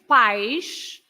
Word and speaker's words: país: But if you say país, then you put the accent on the I to split the 2 syllables.